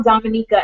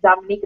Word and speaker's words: Dominica: Dominica, and I'm like, no, it's Dominica. They're like, well, it's spelled this way, it's spelled this way. And I say, no, I said, the way you know how to pronounce the name of a country, you have to talk to someone from that place, and the way they pronounce it is the way you pronounce it, okay?